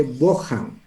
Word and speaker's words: Bohan: Yo no sé por qué los gringos la H lo pronuncian como J, ¿no? Entonces por eso se lee Bojan.